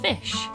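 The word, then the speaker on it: Ghoti: And I write for Calling Spots magazine, and I'm the editor-in-chief of an independent surreal zine called Fish, which is spelled G-H-O-T-I.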